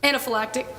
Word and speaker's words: anaphylactic: Weber, testified that the treatment, and I cannot begin to pronounce it, anaphylaxis? Anaphylactic.